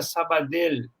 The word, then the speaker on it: Sabadell: E Sabadell, a pronúncia em catalão seria Sabadell, em espanhol, com 2 L's no final.